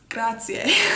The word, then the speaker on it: grazie: they say like grazie because they're local, so they like chop it off nice and short. But if like tourists do that or foreigners do it, then they know they're foreigners because they're not pronouncing it correctly.